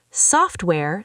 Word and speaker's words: software: Software, stress the soft.